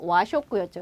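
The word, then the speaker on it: 和食: 와 발음이 뭐가 됐고, 화는 와 발음이 됐고, 그대로 음독 들어가서 와쇼크였죠, 여러분. 그쵸? 자, 와쇼크 한번 찾아볼까요? 여기 있네요. 그래서 한자대로 읽으면 화식, 와쇼크.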